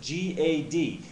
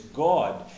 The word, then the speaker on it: Gad: and then it says g a d and you might pronounce that Gad but if you look into the Hebrew concordance the actual pronunciation is God and it's very similar